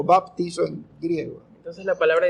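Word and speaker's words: βαπτίζω: palabra es griega Sí y la palabra se pronuncia baptizo baptizo no Y la palabra el significado de la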